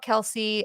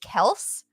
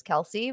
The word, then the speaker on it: Kelce: name is actually pronounced kelse and that it's just been mispronounced for so long that their father just started going with it and saying their last name is Kelsey but it's actually kelse